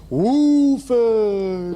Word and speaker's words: Woolford: He's asked that he pronounce Woolford. Right. When I see him at Jeppy's, he always says, make sure you get the woo in the Woolford.